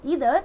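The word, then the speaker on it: either: नाउ आई गॉट to know that in this American English we call it एज़ इदर एंड इन UK English we call it अस आइदर anyways we are talking about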